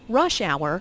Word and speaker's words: rush hour: Notice that rush hour is a compound noun with the main stress on the first word.